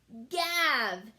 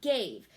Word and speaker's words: gave: Gav. His mom gav, but we want gave. So super silent E has to be added to come over to make that A say its name.